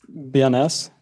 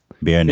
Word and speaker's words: Béarnaise: Béarnaise. Béarnaise.